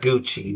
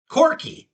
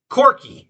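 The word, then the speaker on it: Corghi: It's not Gucci but it's similar. Corki. That's it. Corki.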